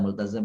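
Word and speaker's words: ملتزم: Multazam itu ya, wa yaltazimuna multazam, ya bukan multazim itu bacanya.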